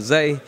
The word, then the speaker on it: Zay: But people use the word Trap Holiday already so many times, so I was like, you know what, day rhymes with Zay, when we call it Trap Holiday.